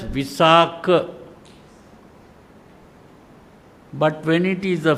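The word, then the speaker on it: Visākha: When it is the male name, you pronounce it as visak.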